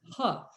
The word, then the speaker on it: He: So the name is pronounced Huh. And she was so excited. And she said, I have been called he for 4 years.